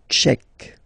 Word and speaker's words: Tchèque: La République tchèque. So remember, Q-U-E, K, Tchèque. La, and then here as well, République. La République tchèque.